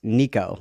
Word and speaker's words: Nico: And then apparently it's not nec. It's Nico like like like the name like Nico, not Neco.